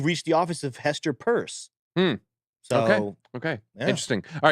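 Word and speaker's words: Peirce: which we found out it's purse right she pronounces it purse for some reason I'm oh well there is no I before the E there okay so maybe I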